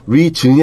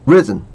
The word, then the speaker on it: reason: reason이 아니고 reason 강세 이름절에 있는 거지?